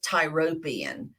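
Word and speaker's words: Tyropoeon: all the way across the Tyro Pian Valley some some people pronounce it tyrobian um it just depends um but the tarubian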